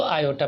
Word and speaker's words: iota: पढ़ने में आता है इसको जो हम प्रोनाउंस करते हैं वो आयोटा प्रोनाउंस करते हैं।